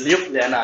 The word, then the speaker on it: Ljubljana: I tried my best to get to know the pronunciation of this. It's Ljubljana, is it? Perfect.